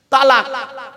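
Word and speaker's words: طلاق: না ভাব আমি এখানে বসে আছি চিন্তা নেই তালাক কি বলে শব্দটা কিন্তু তালাক নয় শিখে যান আজকে শব্দটা তালাক নয় শব্দটা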